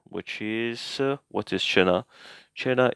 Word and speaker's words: cena: So, however, when C comes before the letter or E, I in English, it sounds like English ch, ch. So, cena, which is, what is cena? Cena, it's just dinner.